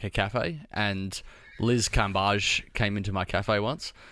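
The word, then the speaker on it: Cambage: feel like an idiot I thought it was L Cambridge no kage you for clarifying that well this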